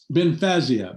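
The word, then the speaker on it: Bynfezia: and the name of this pen is it pronounced uh benficia or ben fezia ben fazia that's what i thought so everybody watching at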